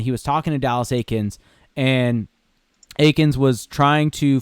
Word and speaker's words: Eakins: It's not Eakins. I know. Just was second guessing myself for a hot second. Just ignore the E. Just pretend it's just an A.